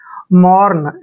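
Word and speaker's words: mourn: यू आर एन देखिए एम ओ यू का उच्चारण देखिए मो करते हैं म ऐसे म और आर का उच्चारण र करेंगे एन को न जो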